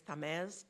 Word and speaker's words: Tamez: My last name is Tamez, T like in Tom, Amez.